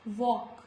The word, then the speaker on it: walk: It's talk, fork, walk, york. Before letter M also, letter L is silent, like almond.